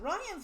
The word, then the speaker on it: Rian: calls him rhianne Johnson oh his name is spelled r-i-a-n it's like the first time I saw that I'm like Rianne who calls a dude Wren and then the first time I saw it called Ryan I'm like Ryan's with